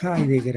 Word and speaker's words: Heidegger: explicación entonces y heidegger léanlo martin heidegger así se pronuncia en alemán es una existencialista página